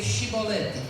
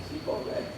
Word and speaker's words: chibolete: Aí, se respondesse que não, os homens de Gileados diziam: "Então diga chibolete". Diga cibolete. Se ele dizia cibolete, não podendo pronunciar corretamente a palavra, então eles recebiam um abraço e um aperto de mão.